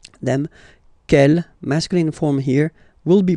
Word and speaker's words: quelle: And the good news is that you will pronounce them the same way. Alright, so quel, quel, quel, and quel. Okay, remember that in some